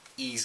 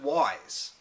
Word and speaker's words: Ys: have this deluge of ease games because it's just fantastic and of course back in the day like everyone i called it wise because it's y s but it's actually pronounced ease and uh ease is